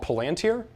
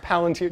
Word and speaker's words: Palantir: can't make this shit up, a company called Palantir, who's go ahead and search. That's how it's pronounced. Trust me. That's how it's pronounced. Palantir.